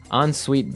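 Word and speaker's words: en suite: So even though it's E N, we pronounce it like an O N.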